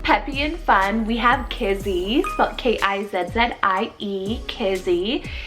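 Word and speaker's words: Kizzie: god's gracious meadow peppy and fun we have kizzy's about k-i-z-i-e kizzy it's a hebrew name derived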